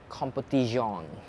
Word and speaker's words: Competizione: Then you have the F40 Competizione. Uh that's how you pronounce it in Italian.